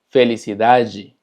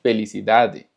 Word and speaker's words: felicidade: Ahora, cuando tenemos una palabra que termina con DE, se pronuncia ji. Por ejemplo, felicidade, cidade, verdade, saudade.